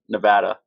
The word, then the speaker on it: Nevada: was really stressing prior to this interview my pronunciation of Nevada so make sure it was right you nailed